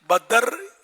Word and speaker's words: بدر: ثانی، مکھ چند بدر، چند بدر نہیں ہے نا، بدر تلفظ صحیح نہیں ہے، بدر اصل تلفظ دال- بدر، دال دال ساکن۔ ساکن ہے، بھائی پیارے